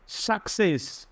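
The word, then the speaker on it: success: স এরপরে দেখো এখানে সাকসেস সাকসেস সি টা হয়েছে প্রথমে খ পরে হয়েছে কিন্তু সক সাকসেস এরপরে দেখো সি এর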